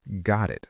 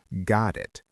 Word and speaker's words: got it: Let's practice the got it sound. In American English pronunciation, the T in got connects to the I in it. It sounds like got it.